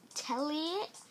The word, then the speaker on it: Telliot: It's Telliot. Elliot, I'm serious. Are you serious? Telliot? Rhymes with Elliot.